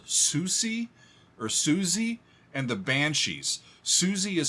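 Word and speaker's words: Siouxsie: this is from a band called Susi or Suzy and the Banshees suie is spelled s IO ux like Sue um Native Americans s iio uxs i e Suzy and the Banshees I've never even heard of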